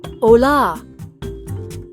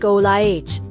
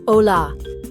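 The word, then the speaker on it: olá: Phrase number one, hola. That's hello in Portuguese. It sounds like olih with the stress on that second syllable. Listen closely. Ola. Now say it with me. Ola.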